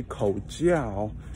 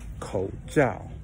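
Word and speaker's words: 口罩: because if you say ko jiao that means oral sex and not a face mask ko means mouth jiao means uh covering jiao means communication so you really want to be careful with your pronunciation when you say ko zhao mouth covering instead of mouth communication we'll come across a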